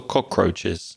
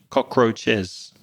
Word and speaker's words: cockroaches: hate more mosquitoes or cockroaches mosquitoes yeah at least cockroaches don't bite you you know there's another word where you pronounce the S at the end with an extra syllable cockroach Cockroaches cockroaches yeah they're horrible